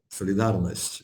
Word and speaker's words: Solidarność: Solidarność perfectly, yes, solidarność, solidarity, solidarność, yes, pronunciation perfect.